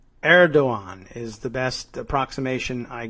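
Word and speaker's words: Erdoğan: have squandered the advantages to be gained from Erdogan's contempt for Trump, according to both European and Middle Eastern intelligence sources.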